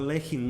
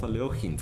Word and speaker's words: Alekhine: this campaign was started that he was a lacking not eloheem for some reason it's kind of a more